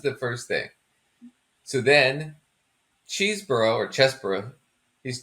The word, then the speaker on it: Chesebro: His name's Chesebro. He's from Wisconsin. His name is Chesebro. I don't care how he pronounces it. If you're from Wisconsin, you have that name, it's Chesebro.